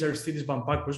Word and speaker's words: Aristeidis Bampakos: my name hello everyone actually my name is arthidis vampacus but as duncan said you can call me